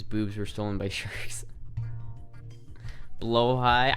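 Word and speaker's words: Blåhaj: were stolen by sharks blo High I know it's called blo high that's how it's pronounced I always call it Blaha I always say this Blaha to me man they're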